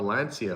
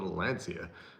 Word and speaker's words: Lancia: Somebody said it's pronounced Lancia, and then somebody said it's a Lancia, and then they got into an argument back and forth. But here, where I am in Canada, they would say Lancia. And because it's spelt that way, I guess, L-A-N-C-I-A. But I know in Italy, maybe it's Lancia.